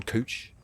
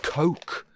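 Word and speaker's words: Koch: in the movie, Don Cooch. Don Cock. Either way it sounds bad. Sounds like a compensatory name for a bloke with the world's tiniest... Oh, it's pronounced Coke! Don Coke. Oh, that's way better.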